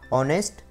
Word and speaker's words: honest: Number 3, honest, honor, our, hair. And the silent letter is H.